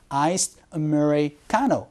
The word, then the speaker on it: iced Americano: 아메리카노보다는 Iced Americano, 이런 식으로 발음이 된다는 것도 같이 알아두시면 좋을 것 같아요.